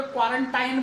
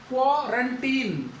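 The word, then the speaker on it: quarantine: तो ये प्रोनाउंसिएशन, जैसे बहुत से लोगों को आदत अभी भी पड़ी है, क्वारंटाइन बोलते हैं, क्वारंटाइन। टाइम नहीं है वो, क्वारंटीन।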